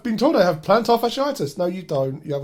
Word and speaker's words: fasciitis: Oh, plantar fatti fasciitis.